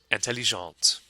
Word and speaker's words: intelligente: So we add an E at the end to create the feminine form, and that makes the T at the end pronounced. So one more time, it's intelligent and intelligente.